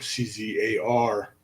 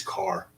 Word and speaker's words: Czar: have been formally czar c-z-a-r but i'm starting to think that the census records are been played around with and it really is not czar it was always car and uh it's just